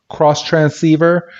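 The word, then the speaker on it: Xtransceiver: first watching it too it's called a a cross transcribe uh cross transceiver but they it's spelled x t r a n and they have it as X transceiver instead of a cross transceiver but it is called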